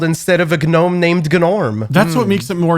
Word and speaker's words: Gnorm: I think we have to emphasize that we were saying we said his name is Ganorm as a joke at first, but then it turns out his name actually is Gnorm.